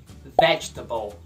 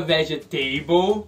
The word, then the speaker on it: vegetable: Vamos começar aprendendo a falar corretamente a palavra verdura em inglês, que é um pouquinho difícil de pronunciar e muito aluno fala errado. Vegetable. Vegetable. Isso, não diga vegetable.